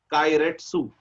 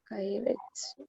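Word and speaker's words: keiretsu: Mm, It is known as Kairetsu. What is the name of the business? Kairetsu. Kairetsu. It's a Japanese word.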